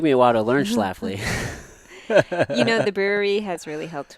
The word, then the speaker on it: Schlafly: people would drop L's, like not get the pronunciation right. But now, people pretty much know Schlafly, at least in St. Louis. Yeah. They know how Yeah. to pronounce it.